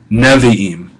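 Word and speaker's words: נביאים: Now that's in the open propretonic syllable, and it reduces to shava. Nevi'im.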